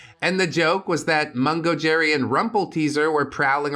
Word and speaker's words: Mungo Jerry: Yes, that is pronounced Mungo Jerry.